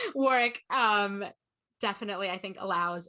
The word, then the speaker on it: Warwick: i found out like warwick i just pronounced that wrong for sure warwick um definitely i think